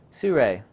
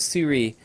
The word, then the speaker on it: Sirui: before making this video but there you go sue ray I kept mispronouncing the company name for so long I was calling it Siri or CA Mandarin Chinese is not my first